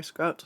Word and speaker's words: Scuts: Sometimes I'm curious and like I get asked a lot like why Scuts and I'm like it rhymes with butts like that that I